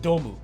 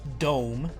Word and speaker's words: Dome: It's pronounced DOMU cuz it's not dome like a big circle. Um, it's it's pronounced DOMU because DOMU means something like uh child's dream in Japanese or it's like an acronym for child's dream.